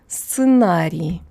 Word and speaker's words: сценарий: So an S is an S, ц is TS, just like before. Yeah, just like before, would be an E sound, an E sound, without palatalization because ц is always hard.